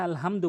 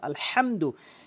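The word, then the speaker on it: الحمد: ওখানে সূরা ফাতিহার ওখানে আলহামদু বলেন যার কারণে নামাজ ভেঙ্গে যায় ওখানে বলতে হবে হলকের মাঝখান থেকে আলহামদু এবং দ্বিতীয় আরেকটি হচ্ছে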